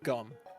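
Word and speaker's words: 검: It's spelled Geom, but it's kind of pronounced gum or cum.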